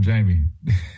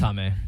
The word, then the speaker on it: Jaime: We're going Jaime or are we going Jamie? It's Jaime. It's Jaime.